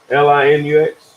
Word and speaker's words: Linux: of you guys use Linus how do you pronounce that let's run let's Li in UX yeah that's how to use that stuff you